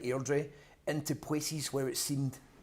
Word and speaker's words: Airdrie: he taught me how to pronounce Airdrie. Like a local Airdrie. Airdrie.